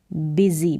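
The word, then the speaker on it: busy: बिजी था क्या था बिजी मतलब कि व्यस्त तो इसका उच्चारण बिजी बूजी करके नहीं होगा बिजी आई वाज बिजी फिर यहां है शी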